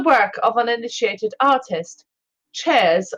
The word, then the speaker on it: Chares: of an initiated artist, Chares of Lindus, or Caries of Lindus, I'll spell it Chares.